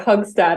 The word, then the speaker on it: Hoogstad: husband's hugs dad but it's got a weird accent because he's dutched his father was Dutch he's South African it's very confusing but okay it's difficult so don't don't stress too much of it but hugs dad is probably the closest okay that's very unique